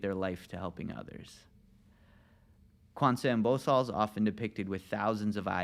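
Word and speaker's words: Gwanseum Bosal: So it's pronounced Quan Seum Bosal.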